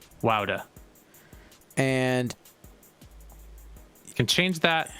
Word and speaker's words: Wouter: Is that the correct pronunciation of his name? I've never Wouter, found out. yeah. Wouter. Wouter.